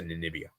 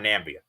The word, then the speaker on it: Namibia: then to lose to Namibia. It would be so characteristic. Yeah, and by the way, guys, hopefully I pronounced their name right. It's Namibia, by the way, guys. It's not Nambia. It's Namibia.